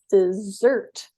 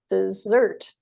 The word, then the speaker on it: dessert: Now, this is very tricky because the word desert and dessert are almost the same, but dessert has two S's and it's stressed on the second syllable. So we say dessert, dessert, whereas number one is desert, desert.